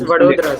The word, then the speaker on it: Vadodara: What's the right pronunciation of it? Prayagraj. And people can speak. I mean, if you are, it's Vadodara, sir.